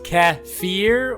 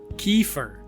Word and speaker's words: kefir: I think there's actually two. I think I have seriously I think I've looked it up and there's like two pronunciations. Are those the two? I think so. Maybe we're both What if we were both wrong? That could be true. It says caffir or kefir.